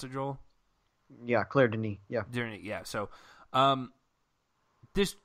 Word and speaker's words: Claire Denis: Is that how you pronounce it, Joel? Yeah, Claire Denis.